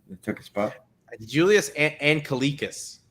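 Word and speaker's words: Anglickas: Julius Angelikas. Angelikas.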